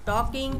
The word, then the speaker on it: talking: टॉकिंग, TALKING, टॉकिंग, इसमें भी L silent है, मीन्स बात करना, टॉकिंग।